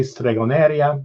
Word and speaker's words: stregoneria: You'll hear me say stregoneria, which is the Spanish pronunciation of the word.